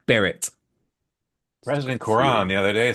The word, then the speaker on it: beret: It's pronounced beret.